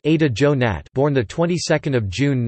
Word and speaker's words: Ada Yonath: Yonath, Hebrew, Yuant pronounced Ada Jonat, born the 22nd of June 1939, is an